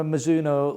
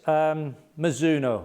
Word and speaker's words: Mizuno: we got for you today always exciting my mizuno launched a new range of product and in